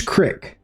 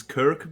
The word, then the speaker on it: Krik: Sometimes people pronounce it Kirk because they think that is a Star Trek reference, but it is not.